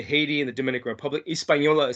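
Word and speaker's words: Hispaniola: there is you know uh the island of espanola um haiti uh dominican republic espanola um where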